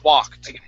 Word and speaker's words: walked: Okay, instead of walked, wuh, it's wah. Open up your mouth just a bit more to pronounce that vowel. Wah, walked.